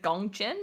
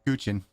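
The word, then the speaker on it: guqin: all so wild, and then the is it Gongqin? Is that how you say it? Which one? LAN1G's instrument. How do you say it? Guchin.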